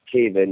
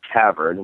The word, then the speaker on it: Taven: know how to pronounce Caven and realize that there's no r in it because only a dummy would say Matt Tavern which seems to happen